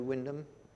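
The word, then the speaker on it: Wymondham: Wyndham in Norfolk do you does anybody know Windham knows this Windham is there's a an medieval church they're called Windham Abbey it's it's spelt Y monde ham but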